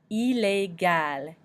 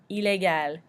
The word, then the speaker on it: illégal: You'll notice this is an exception because the ILL doesn't sound like E, so this is a French word with an exception. But we do pronounce the L at the end.